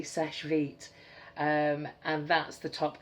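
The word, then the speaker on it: Seche Vite: sesh sesh vit which I thought people were pronouncing it sesh feet you know like feet. It's not. It's vi t e sesh vit.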